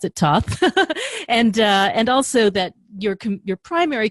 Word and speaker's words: Thoth: So I know that you started out with Crowley and the Thoth deck, I know you pronounce it Thoth, and also that your primary commitment as a reader for quite a while has been the Marseille deck.